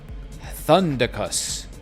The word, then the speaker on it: Thundercus: Thundicus thinks Spartans. Oh. You're talking about the pronunciation of your name. Thundercus, like Maximus or right, Maximus Thundercus.